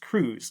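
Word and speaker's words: Kruse: by the historian Kevin I think it's pronounced Cruz Kevin Cruz that explores the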